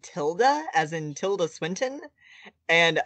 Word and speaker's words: tilde: google dictionary says that it is pronounced tilda with a schwa since when since google but also i don't trust like google wikipedia says it's either tilda or tildy can we start writing